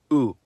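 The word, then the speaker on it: у: In cerillic, the letter is called oo. It's a crucial part of every cerillic script language. And guess what? Just like its name, the sound it makes is ooh.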